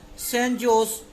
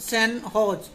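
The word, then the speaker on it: San Jose: Recently the St. Joe's, pronounced St. Hodge State University, of which they were former student, honored them and installed their statue in the university campus.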